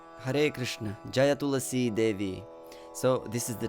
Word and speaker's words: Tulasī: So it's not Tulasī, it's Tulasī. Tulasī Devyai, Priyayai Keshavasya cha.